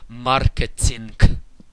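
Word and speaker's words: маркетинг: for the word marketing, we have it written with the letter G at the end, the voiced consonant G, but when we pronounce this word correctly, we end up saying marketing with a very distinct K sound.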